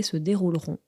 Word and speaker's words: se dérouleront: dérouler to take place attention donc à la prononciation quand on le voit écrit c'est se dérouleront mais quand on le dit c'est se dérouleront est-ce que la Ville